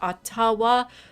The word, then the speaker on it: Ottawa: as Ben pointed out you stressed at atawa the way the way we're pronouncing it is like how it's pronounced in English like like generally but there will be a different pronunciation from the indigenous language do you know what